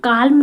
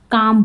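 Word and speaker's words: calm: इसको हम काल्म नहीं बोलेंगे, एल को हम प्रोनाउंस नहीं करेंगे। जैसे कि नो में हम बोलते हैं ना, के को हम साइलेंट कर देते हैं बोलते समय, नो बोलते हैं, वैसे ही हम काम में एल को साइलेंट कर देंगे, काम बोलेंगे, काम, ठीक है।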